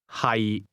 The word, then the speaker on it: 係: 係 The difference is that to be is pronounced with a low, level tone, and to be located is pronounced with a mid-rising tone.